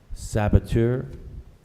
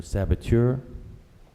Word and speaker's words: saboteur: commandant e that's correct spell our number three saboteur or saboteur can I have the definition the definition of